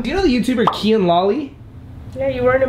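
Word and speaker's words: Kian Lawley: It's Kian Lolly, not Kian Lolly. Oh, I thought it was an M at the end. It's an N.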